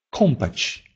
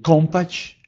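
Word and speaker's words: kąpać: Например, «зомб» или «компач». «Зомб» – «зуб». Или «компач» – «купать».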